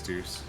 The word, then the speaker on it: deuce: It's not Deuce. Wait, it is Deuce. Is it? You actually said it right. Yeah, it's Deuce.